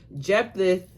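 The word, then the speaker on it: Jephthah: Jeepath, that's how you pronounce pronounce his name, answered answered, I and my people were engaged in a great struggle with the Amomites.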